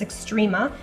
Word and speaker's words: Xtrema: I believe I'm pronouncing that correctly. It's Xtrema.